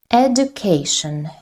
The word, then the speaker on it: education: Education. Education. Education. 4 syllables and we also have the second, which is stressed. Education. Education. The third syllable is stressed, not the second, because education. The third is stressed.